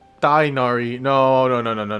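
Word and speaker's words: Tighnari: no no no the I I looked at his name and I didn't know how to pronounce it so I said die first because it's just missing the H right next to the T right so and then nari yeah I think I think I think I pronounced his name right the first way tainari makes the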